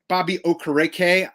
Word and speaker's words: Okereke: the Texans, half the tackle total of Bobby Okereke. Mm-hmm. I was just practicing the pronunciation this morning.